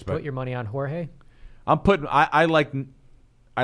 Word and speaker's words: Jorge: I think it's that I keep saying his name wrong. Jorge.